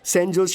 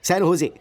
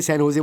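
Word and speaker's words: San Jose: Oh sorry sorry sorry sorry sorry, सैन होजे, SANJOSC। इसकी spelling यही है ना, लेकिन इसमें जे साइलेंट रहता है, इसलिए इसे सैन होजे बोलते हैं।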